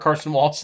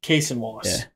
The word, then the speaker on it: Cason Wallace: If he just is like, I'm going to put I'm going to start Carson Wallace instead of Alex Caruso. I want his energy off the bench. Cason Wallace.